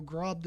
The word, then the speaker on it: Grobda: Anyways, Grobda. That is apparently how it's pronounced. But, you know, Grobda is kind of funny.